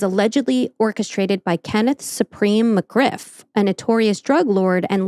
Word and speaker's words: McGriff: No, I said Ken Griff. Oh. I thought it was, whatever. Anyway. McGriff was reportedly furious with 50 Cent for referencing him in the song Ghetto Quran, which exposed some of McGriff's criminal activities and connections.